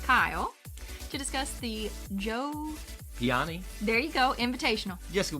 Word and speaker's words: Piane: I think because it's spelled like Diane, only there's a P, so I want to say Piane.